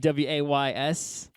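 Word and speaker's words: Waze: oh are they trying to be cute like w a y s but they spelled it w but pronounce it the same I guess it just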